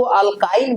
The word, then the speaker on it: एल्काइन: पढ़ने जा रहे हैं, एल्काइन। एल्काइन हो सकता है इसको अल्काइन भी कह दे। इसको क्या कह दे? अल्काइन। चूंकि प्रोनाउंसिएशन हर किसी का कुछ अलग होता है, तो ये अल्काइन के बारे में पढ़ेंगे।